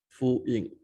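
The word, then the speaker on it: Fu Yin: So it's pronounced as F-U-Y-I-N, full-in.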